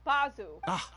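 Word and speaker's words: Baizhu: coconut milk bite you I don't care if that's how you say his name is bazu yes of course Chichi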